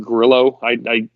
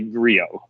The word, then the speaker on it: Grillo: You can call it Grillo all day. I'm not trying to sound highfalutin. I know people personally with that last name, and they say Griot. Yeah, you got to pronounce it with the accent.